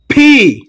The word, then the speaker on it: P: ফি এটাকে সাধারণত আমরা পি বলে থাকি, ব্রিটিশরা বা ইংরেজরা এটাকে ফি বলে থাকে। দুই ঠোঁট দিয়ে উচ্চারণ করে, জোর দিয়ে শক্তি দিয়ে উচ্চারণ করে।